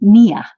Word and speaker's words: Nia: you are offering your naya classes it's nyonya it's pronounced nia nia your class is online